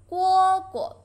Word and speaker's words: 蝈蝈: Read after me. 蝈蝈. Lighten. 蝈蝈.